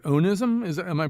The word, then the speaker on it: onism: of your words which I believe is pronounced onism is am I pronouncing it correctly o n i yeah that's right onism yeah so this has nothing to do with